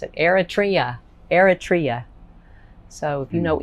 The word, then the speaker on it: Eritrea: had to look how to spell how to pronounce it eritrea eritrea so if you know anything about eritrea